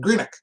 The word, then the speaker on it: Greenock: She still has cousins over there in Greenock. That is the town, right? Am I saying it right? Greenock? I'm in the next town from there. All right. Yeah, Greenock.